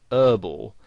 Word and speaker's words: herbal: Now, in American English, the word herbal has the H silent, so they pronounce it herbal. Now, you might find somebody actually spells it that way, herbal essences, because that's how they would pronounce it, whereas in British English you would pronounce the H, and you would say herbal essences.